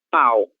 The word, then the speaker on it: pau: escribir esta palabra acá, se escreve com la U, e se pronuncia pau, ok?